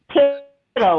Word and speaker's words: Tittle: Tittle, like little.